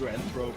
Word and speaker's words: Zoanthrope: second thr okay it's it's pronounced zoanthrope in English is it zoanthrope put him down come